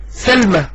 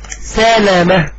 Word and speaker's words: سلامة: وهذا الجاهل يقول سلمى، وبنقول له يا جاهل، ما اسموش سلمى، اسمه سلامة. هنشوف دلوقتي ازاي بينطق الاسم غلط، وده دليل يصرخ بجهله. الصحابي سلمى، سلمى ده اسمه مذكر مش بنت، زي جمعة مثلا. الاسم قدامنا سلامة، اللام مفتوحة على فتحة، لكن الجاهل ده هيعرف